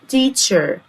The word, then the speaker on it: teacher: الاي والاي كسرة جامدة، السي والاتش انطقها تش، الاي والار يبقى teacher.